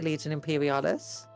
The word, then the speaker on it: Legion Imperialis: Watch us silverhelm models are out 12 unit 12 or legion imperialis watch. That is not how you say it. What? Legion imperialis. No, that's how you say legion imperialis.